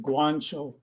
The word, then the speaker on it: Guanciale: you spell her name uh g-u-a-n-c-i-a-l she actually pronounces it guancho ancho okay and if you oh this is